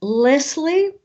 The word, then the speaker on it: Leslie: Okay, for me, it's Leslie. Yeah, this is what I said. Yeah. Leslie. But I find a lot of people just call me Leslie.